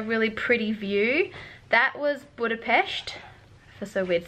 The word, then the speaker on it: Budapest: we made it - I've been mistakenly saying it wrong the entire time not Budapest its Budapest right what a pest like look